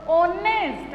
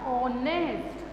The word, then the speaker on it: honest: Honest. H is silent. And sound is what? Honest.